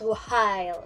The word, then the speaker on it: while: Or while with the H silent. So while, not while, but while.